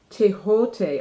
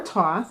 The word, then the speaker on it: Thoth: Okay, so I always pronounce it Thoth. I was like, how do you pronounce this? Thoth? Egyptian. It's actually pronounced Tehote. Oh, okay, I've heard that. Or Thoth, I guess they say you can say it.